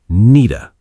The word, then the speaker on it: need to: In fast American English, native speakers often pronounce need to like needa.